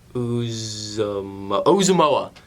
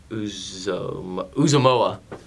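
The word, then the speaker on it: Uzomah: I'm going to mispronounce his name. Uzumoa. That's how you pronounce it.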